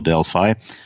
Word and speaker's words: Delphi: At that time, I was using Delphi or Delphi, if you pronounce it the American way, the stuff from Borland, you remember?